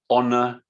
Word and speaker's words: honor: word there is pronounce honor so we don't pronounce the h so honor also is true with